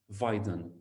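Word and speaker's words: Weyden: painting by roger van der haven his name is spelt like this viden so w e y d e n okay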